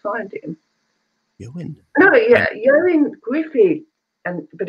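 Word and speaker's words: Ioan Gruffudd: Yoin Griffey.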